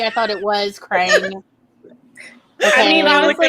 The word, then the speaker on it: Krang: I mean, you can call me on my stuff, but I'm just saying I thought it was Krang. Okay. I mean, honestly, it rhymes with Strange, so close enough.